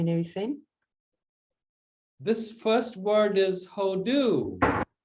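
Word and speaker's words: הודו: How does it say pronounced? Hodu. Hodu. How do, yeah.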